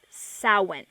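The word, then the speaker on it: Samhain: m h a i n but it is pronounced sa all right uh just because you observe the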